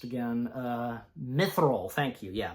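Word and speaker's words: mithril: milth um let me how do how's it pronounced again uh mithil thank you yeah mithil I had to pull it up again mithil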